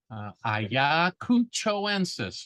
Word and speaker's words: Ayacuchoensis: Ayacuchoensis for those pronunciation challenged individuals. It's from Ayacucho. So if you can say Ayacucho, then you just add ensis to the end.